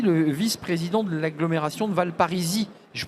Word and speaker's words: Val Parisis: vice-président de l'agglomération de valparisis je prononce bien c'était exactement ça on confond des fois avec la ville mais oui c'est valparisis donc j'ai bien raison de pas prononcer le S d'abord un petit mot